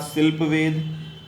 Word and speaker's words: शिल्प वेद: उसके बाद शिल्प वेद वो शिल्पा दिख रहा है लेकिन वह शिल्प वेद है उसको शिल्पा मत प्रोनाउंस करिएगा आर्ट एंड आर्किटेक्चर आर्ट